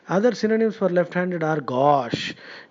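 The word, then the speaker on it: gauche: h e uh you are probably tempted to pronounce it GOI now GOI we know is a lion cloth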